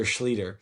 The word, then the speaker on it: Schlueter: I thought that Peter Schlueter would be the best name ever. She didn't go for it, No. But there is now an easy way to remember my name. It rhymes with Peter.